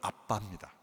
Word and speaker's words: 아빠: 아바는 아람어로 우리말로는 아빠입니다. 발음이 비슷해요.